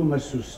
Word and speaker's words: masseuse: be rested for tonight's dinner, I asked 2 masseuses to come over. Really? Or 2 masseurs. How do you say that? Masseuse?